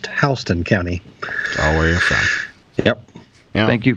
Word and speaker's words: Houston: it's h County hon spelled the same way as Houston but it's pronounced HST County always yep thank